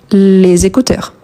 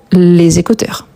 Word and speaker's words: les écouteurs: Donc les écouteurs, n'oublie surtout pas de faire la liaison, les écouteurs. OK ? entre voy sont de Z, les écouteurs.